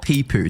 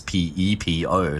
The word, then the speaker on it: Pepo: Yeah, it's it's it's not pee poo. Didn't he like actually come out and say that that's not how you like actively? No, I mean whoever pronounced it like that needs to go to some speech therapy or something because it's obviously not peoo. It's p e p o. There's no double e pepo.